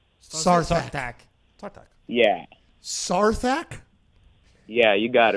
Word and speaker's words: Sarthak: Sarzak. SARS? Star Fox? Yeah. SARS? Yeah. Like the, Spell it out. Like What, the like disease? the disease? SARS? No. It's S-A-R-T like Thomas, H-A-K. Sarthak.